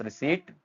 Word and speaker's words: receipt: Next है हमारे पास रिसीट P silent है।